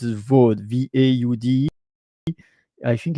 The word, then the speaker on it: Vaud: So Vaud, I think it's pronounced VOUD, Vaud.